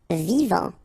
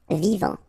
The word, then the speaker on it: vivant: Vivant. Final T not pronounced. Vivant.